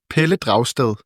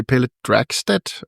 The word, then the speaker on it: Pelle Dragsted: In Danish, it's Pelle Dragsted. But in English, you could say Pelle Dragsted or something like that.